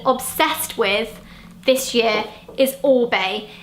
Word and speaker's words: Orbe: with this year is Orbe. It looks like it should be pronounced Orebe, which is what I called it before I found out that isn't actually how you say it.